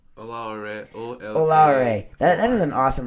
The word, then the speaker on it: Oloare: Oloare. Oloare. That is an awesome last name. Wait, what are you saying right? Is he saying it right? Oloare.